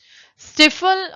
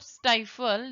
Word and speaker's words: stifle: Moving on, next word, स्टिफल और स्टाइफल, both pronunciations are right, स्टिफल और स्टाइफल।